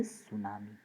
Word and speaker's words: tsunami: In that tsunami spelling, T is silent. So to tsunami like this, don't pronounce, it is the tsunami.